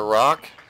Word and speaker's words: Rok: in some valley near Rock or oak I've heard a couple people pronounce it rogue but anyway Valley Rock